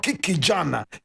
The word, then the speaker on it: Kiki Gyan: My brother, my sister, today we are talking about Kiki Gyan. Kiki Gyan. Oh my God. Today we're talking about Kiki Gyan. Now Kiki is spelled K-I-K-I.